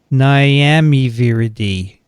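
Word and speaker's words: Nyamiviridae: lineage in this family niamey viridi and they think right i just wanted to say miami sounds like miami but it begins with n as in negatives there you go it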